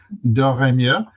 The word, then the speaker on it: Doremieux: Her name is Natalie Doremieux. Natalie brings a unique perspective. I know I pronounced that right because French is one of my working languages. Doremieux.